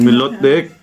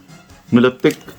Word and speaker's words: Milotic: Mali na naman yung pronunciation pakita mo sa ano e. Sorry ganon tayo hindi melotic. Milotic silver or gold sabi mo ba or dapat gold?